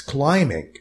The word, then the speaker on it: climbing: you how to climb by the way this B is silent don't say say climbing no it's climbing climbing instructors also available